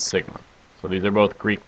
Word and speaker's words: sigma: the little o with a tail which we pronounce Sigma so these are both Greek letters MU and